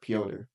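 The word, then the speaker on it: Пётр: In Russian, that's more like pronounced like Piotr. Yeah, kind of. Yeah. It's the Russian. So that's how you spell Peter then. In Russia, it's Piotr Yan.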